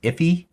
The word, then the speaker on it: IIFE: Sometimes I think it's pronounced iffy.